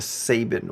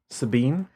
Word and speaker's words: Sabine: I looked up the pronunciation, and there are like 3 different ways that I've seen it. That's the most like that was like the most like commented on. SAY hyphen BINE.